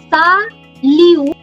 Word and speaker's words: salutation: I am not pronouncing the last letters. Why is that so? Any idea, anyone? Why am I not pronouncing the last letters? If someone already knows French or has read French, absolutely. In French, the most important French pronunciation rule, everyone, if you hear me out today, I promise you can speak French like a native. In French, last letters are not pronounced.